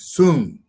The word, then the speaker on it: Sun Tzu: sun yes that's not saul the sun is soon you in chinese is pronounced soon uh we kind of want to not disrespect them but i'm gonna say sun tzu i mean it's disrespectful same way people say